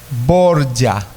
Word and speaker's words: Borgia: puede buscar en internet busque la familia borja oria se escribe borgia borgia usted va a